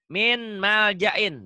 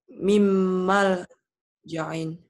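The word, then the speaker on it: مِن مَلْجَإٍ: Benar gak kalau baca min malja'in? Enggak. Enggak, salah. Kenapa? Harusnya gimana? Harusnya mimmal ja'in. Kenapa mimmal ja'in? Karena nun mati bertemu mim huruf.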